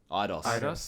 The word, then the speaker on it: Eidos: Eidos.